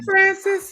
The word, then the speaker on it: Francis: Francis, right? That's how you pronounce her name. that is Francis. how you pronounce her Hi, name. Francis.